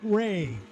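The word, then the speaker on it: Wray: That's going to be Ray. Is that how you say that, Ray? The Ray, yep. silent W there is the 90 Pontiac Trans Am.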